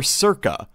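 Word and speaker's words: SERCA: as sarcoplasmic and endoplasmic reticulum calcium atpa or Circa that's spelled s e r CA calcium ATP p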